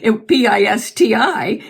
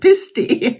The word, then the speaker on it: Pisti: Pisti. And of course, it was pronounced, when he went to school, the teacher pronounced it Pisti.